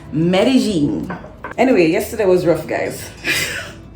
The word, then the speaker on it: Medellín: good morning it's another beautiful day in Medellin Colombia it's day number two by the way in case you're wondering why I'm calling it Medellin the people who live here say Medellin I know it probably goes against everything we